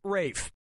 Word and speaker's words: Ralph: for yep ray Fiennes first name is spelled like Ralph but pronounced Rafe and his brother Joseph